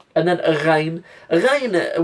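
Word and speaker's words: غين: Ghain, we overcomplicate Ghain sometimes. It's just how the R is pronounced in French.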